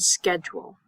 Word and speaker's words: schedule: the ch in school and schedule we say it like a k in American English school